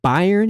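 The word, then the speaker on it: Byrne: Is it Byron? Is it Burn? How do you say this guy's name? Burn. Okay. Burn Faraday.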